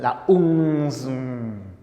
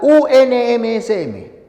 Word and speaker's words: UNMSM: una sigla la unmsm no vayas a pronunciar como alguno nos intentan la un Porque ninguna sílaba del español tiene esta terminación Entonces es la unmsm Ministerio de transportes y